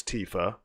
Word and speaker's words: Tifa: So we now know it's Tifa. I've been saying Tifa for years.